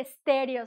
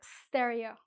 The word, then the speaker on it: stereo: No se dice estéreo, se dice stereo.